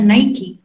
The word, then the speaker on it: Nike: Itu padahal cuma merek aja, kita salah penyebutannya Nike. Itu kita bacanya Nike. Kalau Nike, Zakir Nike gitu.